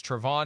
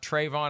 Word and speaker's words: Travon: I'm saying his first name wrong. As I learned last night, it's Travon, not Travon.